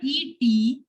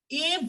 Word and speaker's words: et: Here, this word ET is pronounced as A.